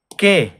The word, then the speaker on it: qué: ¿Qué? What? ¿Quién? Who? So remember, the U is silent if it's after a Q.